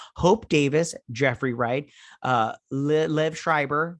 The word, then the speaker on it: Liev Schreiber: davis jeffrey wright uh lev schreiber that's how you say it and then he's got